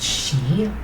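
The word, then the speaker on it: 四: I think it's because it's pronounced she, which also means death.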